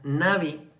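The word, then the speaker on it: נביא: Las palabras que se utilizaron en el Antiguo Testamento es la palabra, obviamente que viene del hebreo, que se pronuncia Navi, que esta palabra significa hombre inspirado.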